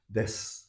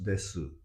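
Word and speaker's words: です: or Oh, Kyushu, oh, they pronounce desu desu. Ah, or masu, interesting. tabemasu. I'm not saying that is wrong, but it's considered being the unpronouncing this u or e is Mm-hmm. being the standard Japanese, and that's what you should try to learn.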